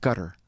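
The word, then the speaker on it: Qatar: It's called But so I've heard cutter. Yeah. Cutter, but you're saying like a G. They use a G sound.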